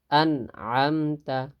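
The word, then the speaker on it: أَنْعَمْتَ: আন'আমতা আন'আমতা আন'আমতা আন'আমতা শুদ্ধ উচ্চারণ হবে আন'আমতা। আমরা যে পড়ি আন'আমতা, এটা ভুল।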